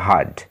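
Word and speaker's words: heard: এটার উচ্চারণ হিয়ার্ড হবে না, হার্ড, ঠিক আছে। অনেকে এটা উচ্চারণ হিয়ার্ড করে, কিন্তু এটার সঠিক উচ্চারণ হচ্ছে হার্ড।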